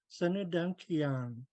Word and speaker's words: Sanudang Kiang: Sun and U are going to be pronounced as one word. Sanu, Sanu, Sanudang Kiang, Sanudang Kiang. This verb here, um, to be named or to be called, it sounds like ki on, and there's a slight glottal stop in there.